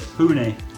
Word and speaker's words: Pune: How do you say it? Pune. Okay, because like I thought it was Pune. Yeah, Pune's fine.